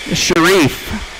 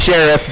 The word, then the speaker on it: Sharif: We're going to be looking for Eric, Sharif. I know it's Sheriff, but I'm reading it the way it's spelled.